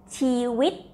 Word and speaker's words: ชีวิต: You can also practice to read for people who can read already, and we will try to read and pronounce together. Uh-huh. Okay. The first part. Chiwit.